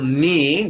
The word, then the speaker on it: ni: Okay, this time we're going to play with the syllable ni, just like the joint between your thigh and your calf.